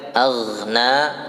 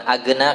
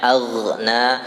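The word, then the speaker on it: أغنى: Aghna, aghna, jadi bukan agna. Kalau agna, kalau nggak mengalir berarti nanti masuknya di sifat syiddah ya. Itu nggak boleh tuh, dibacanya harusnya aghna, aghna, mengalir ya.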